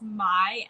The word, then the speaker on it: Mia: i just wanted to say my name is pronounced my like and why no i am so sorry